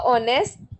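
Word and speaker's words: honest: अ ऑनेस्ट wrong है क्योंकि एच is silent, an ऑनेस्ट सही है, एन यूनिवर्सिटी गलत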